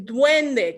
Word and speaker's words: duende: say at least how i say it is duende can you say duende at home it's d-u-e-n-d-e duende doing the good